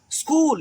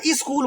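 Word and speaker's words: school: स्कूल, यहाँ ई स्कूल बोलते हैं, गलत है।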